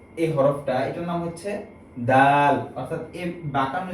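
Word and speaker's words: دال: সা এই হরফের উচ্চারণের ক্ষেত্রে বলেছিলাম যে জিহ্বার আগা সামনের দাঁতের আগার সাথে লাগবে, যেমন সা, ঠিক একই স্থান থেকে হবে দাল।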